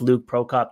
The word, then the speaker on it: Luke Prokop: I feel like I'm missing a syllable.